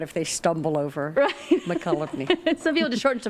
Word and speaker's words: Mokelumne: know what, speaking of names, and I don't mean any offense at all, but the word Mokelumne is odd.